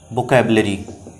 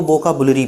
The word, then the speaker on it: vocabulary: वो है आज का वोकैबुलरी। कुछ लोग वोकैबुलरी को वोकाबुलरी पढ़ते हैं, प्रोनाउंसिएट करते हैं। वोकाबुलरी प्रोनाउंसिएशन इसका नहीं होता है, वोकैबुलरी होता है। इट्स वोकैबुलरी।